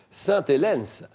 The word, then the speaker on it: Sainte-Hélène: Vous n'avez pas prononcé le S à la fin d'Hélène. Sainte-Hélène, pour prononcer le S.